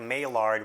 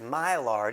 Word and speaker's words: Maillard: you would pronounce it Maillard and if you're really cool, you would know the D is silent and you would just say Maillard.